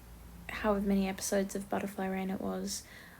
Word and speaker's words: Butterfly Reign: however many episodes of Butterfly Rain it was. I'm sorry for the me pronouncing it butterfly region. I am dyslexic. That is how I thought that it was pronounced for quite a while.